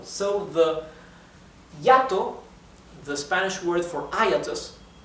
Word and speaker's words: hiato: La forma como se escribe hiato en español es así. Hiato. Hiato. Hiato is hiatus in Spanish, right? Hiatus. Hiato. Now look how ironic. The word hiatus in Spanish actually has a diphthong.